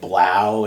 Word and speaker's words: 3LAU: There's this dude named Blau, and it's spelled 3LAU.